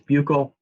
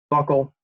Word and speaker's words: buccal: or the buccal cavity sometimes you will see this pronounced or hear this pronounced I guess as buccal those people are wrong it's kind of a insight and anime joke but buckle is the the kind of criterion set and that's going to